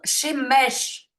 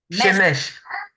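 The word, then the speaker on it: שמש: Ça se prononce Shemesh. Shemesh. Mesh, à la fin, c'est comme un che.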